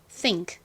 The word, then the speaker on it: think: 발음하실 때는 너무 think 이렇게 1대1 똑같은 비율로 발음하지 않고요. 끝의 소리는 좀 약하게 발음이 나요. 보통 끝이 모음으로 끝나는 게 아니라 그냥 자음으로 끝나는 단어들은 그 자음의 소리가 굉장히 미약하게 나요.